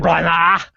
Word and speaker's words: Branagh: Is it Branagh? Yeah. Branagh? That's exactly right.